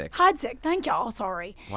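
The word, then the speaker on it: Heidsieck: And is there one that sounds like another one that I love and I jack up the Piper Heidik. Hides.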